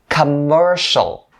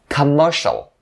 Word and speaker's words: commercial: the third one now notice that you have to roll your tongue in order to make the sharp sound clear and stick your tongue up at the end of this word in order to pronounce the l sound correctly so commercial commercial once